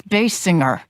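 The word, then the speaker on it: Basinger: evolve to resemble actress Kim Bassinger it's bass singer drawing inspiration from her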